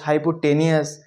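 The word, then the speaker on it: hypotenuse: विवाद है इसको क्या कहते हैं इसका सही उच्चारण क्या है बहुत सारे तो इसको कहते हैं हाइपोट हाइपो टेनियस हाइपोटेन्यूज अपन कहेंगे बेस नीचे वाली जो साइड रहेगी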